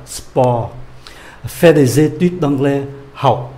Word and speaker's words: sport: Nhiều người vẫn quen cái phát âm của tiếng Anh sport, sport, sport. Chữ T không có đọc ạ, sport.